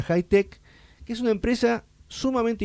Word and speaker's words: Hitec: Que se escribe H I T E C, eh, pero no se pronuncia Itech, sino que se pronuncia high tech, que es una empresa